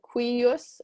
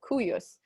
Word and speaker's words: cuius: Perhaps if you've had another Latin teacher before, they've said cuius, and both are actually correct pronunciations. And in poetry, sometimes it's one way, sometimes it's the other way.